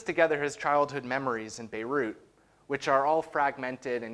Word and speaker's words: Beirut: moved the family to beirut which the young barnaby mispronounced as beetroot so i don't need